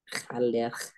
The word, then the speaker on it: râleur: gruñón, râleur, Gruñón. Gruñón. Ah, ya. râleur peut-être. Râleur, les Schtroumpfs râleurs. El pitufo renegón. râleur.